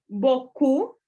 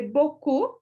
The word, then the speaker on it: beaucoup: Entonces tenemos peu, beaucoup. Parece que c'est beaucoup. Mucho. Ajá. Y esta combinación de estas 3 vocales lo vamos a pronunciar como O, la O del español. Y la OU como U, beaucoup.